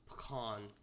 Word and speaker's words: pecan: They also have cinnamon pecan, raspberry lemon, which... Can you say it correctly? Go ahead, Matthew. It's pecan. If you don't say pecan, we can't be friends.